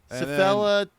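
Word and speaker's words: cephalohematoma: Cephella. That's how you say it.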